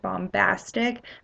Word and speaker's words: bombastic: derivation of bomb like bombastic that b is actually pronounced so English is actually